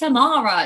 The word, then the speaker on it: Ammara: My name is Ammara, and people say Ammara, and I'm like, it's Ammara. It's not that difficult. Well, I thought there was like an N in there, and was like, no.